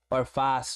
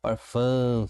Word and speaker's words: órfã: É para que você entenda que esse a aqui você não vai falar aberto orfá, não. Orfã, ó, o som sai das forças nasais. Ele é um sinal de nazalação da vogal, tá bom?